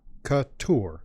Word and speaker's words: Couture: Couture yeah and and the emphasis is on the tour Couture Couture whoo taking a